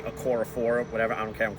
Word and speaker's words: Okorafor: Chuck's Okafor, I've been saying his name wrong the whole time. I'm going to continue to do it. It's actually Okorafor, whatever.